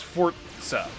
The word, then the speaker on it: Forza: It's not necessarily a T. It's not a Forza. It's more of like a is it a glottal stop? There's a phonetic term for it, and it's you don't necessarily pronounce a T. You just kind of stop your pronunciation before you say Z. It's not a Forz. It's Forza.